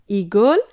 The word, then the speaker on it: ঈগল: আগে ছিল ইট, ইট ছিল ই ই ইট, আর এখন ই ঈগল, ঈগল, ঈগলটি হবে উচ্চারণ করার সময় ই ধ্বনিটি একটু বেশি সময় নিয়ে বলতে হবে, ঈগল ই।